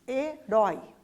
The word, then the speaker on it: herói: Olhem lá, oxítonas, herói. Rói é a sílaba mais forte, né? Então é a última sílaba, por isso a gente chama de oxítona.